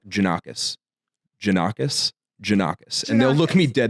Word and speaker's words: Jannakos: So the real pronunciation of it is Jannakopoulos. Okay. That's like the real Greek version. Okay. But when my great grandfather came from Greece, they Americanized it to Jannakos.